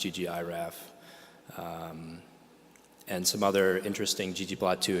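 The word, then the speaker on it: ggiraph: And then once we get there, then I want to start focusing on some other interesting projects like ggRaf, or I think it's pronounced ggiraf, and some other interesting ggplot2 extension packages.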